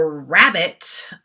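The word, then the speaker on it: rabbet: frame itself um the rabbit r-a-b-b-e-t here you go um it sounds like rabbit i guess i'm saying this out loud but it's spelled with an e not an i um it's the depth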